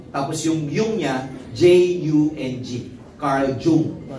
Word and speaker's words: Carl Jung: Carl Jung. Pero it is pronounced as Carl Jung.